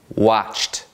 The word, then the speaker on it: watched: Perceba, mais uma vez, a pronúncia desses 3 verbos no passado. Cooked, played, watched.